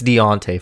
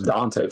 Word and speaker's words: Dontea: I don't know if it's Deontay Foreman, I guess. That's how you're supposed to pronounce it, right? Oh, I thought it was Dontea Foreman. I think it's Deontay.